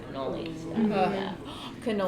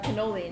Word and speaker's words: cannoli: their tiramisu and their cannolis fun fact cannoli in italian means two canola means one yep well i am